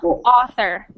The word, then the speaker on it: author: So we pronounce that not ow, even though it's A and U, we pronounce it like aw. Author.